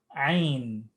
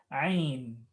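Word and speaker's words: ع: This is the letter Ain.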